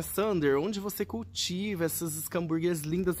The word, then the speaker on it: Schomburgkia: E fazendo uma correção, muita gente chama de xambúrguia, muita gente chama de escambúrguia. O correto de se pronunciar é escambúrguia. Mas também, falando xambúrguia, gente, é a mesma coisa, tá?